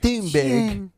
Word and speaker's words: Thunberg: Thunberg. Tune, the H is silent. Yeah, and it's like tuna, but just tune.